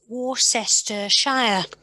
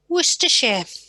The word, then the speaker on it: Worcestershire: might look at it and think it says warcester shire but actually it's pronounced worcestershire and then how about this one yes this